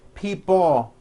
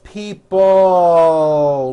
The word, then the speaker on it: people: this last word people it's not pronounced people with your tongue not moving it's people with your tongue slowly moving up and your jaw remaining down stretch out that l sound people like that here